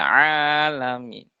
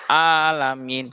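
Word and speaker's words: العالمين: Nah, ini ain sering biasanya kesalahannya tadi seperti huruf hamzah dibacanya robbil alamin, padahal alamin itu artinya seluruh alam. Kalau alamin itu artinya penyakit. Nah, itu dari segi makna juga akan berbeda berbeda jauh.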